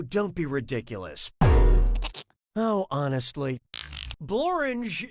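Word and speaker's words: Blorenge: be ridiculous no honestly borange is a real place and it really rhymes with orange binge pipe loves our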